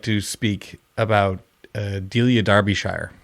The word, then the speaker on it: Derbyshire: i would like to speak about uh delia darbyshire spelled d-e-l-i-a last name darbyshire pronounced that way spelled derby d-e-r-b-y-s-h-i-r-e i go